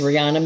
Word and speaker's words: Riana: own here's peter so nice to meet you rihanna that's the right pronunciation of your name eh it is rihanna cool now you are awkward yeah i